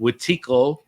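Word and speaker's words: Wetiko: The as you put it, the Watiki, what is it? That's how you pronounce it? Watiko, yeah, or the lower frequency.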